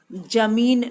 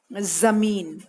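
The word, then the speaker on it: ज़मीन: जमीन, जमीन नहीं बोलना है, जमीन गलत उच्चारण है, जमीन नहीं कहते हैं, हम कहते हैं जमीन।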